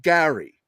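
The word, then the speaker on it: Gerry: It's normally, I think, Jerry. I blame my great aunt. I blame my great aunt, John, because she's Irish. The family is from Derry, Ireland. God bless her. I'm a wee bit Irish myself. They pronounced it Gary, and now my priest,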